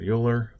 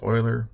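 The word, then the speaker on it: Euler: a Swiss mathematician Leonard yuler or sorry that's actually pronounce Oiler my mistake please don't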